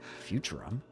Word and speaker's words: Futurum: Futurum? That's the name of this planet. That's how it sounded pronounced in the local tongue anyway.